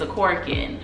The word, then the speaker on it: Akorikin: So I think about it in this phrase, a cork in a bottle.